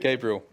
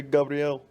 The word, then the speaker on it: Gabriel: Gabriel works fine. But Gabriel. Yeah, that's the English pronunciation. I was kind of putting a little bit of a Brazilian twist on it, you know? No, it's the other way around. Brazilian people say Gabriel.